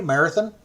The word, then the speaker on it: Marathon: city of Marathon, or if you want to say it like they do, Marathon, that's the way they say it. So it's spelled Marathon like Marathon Oil, but everybody says it Marathon.